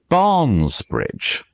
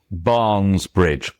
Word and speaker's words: Barnes Bridge: And if you say Barnes Bridge, Barnes Bridge is something which uh the English language really hates. It's two stressed syllables right next to each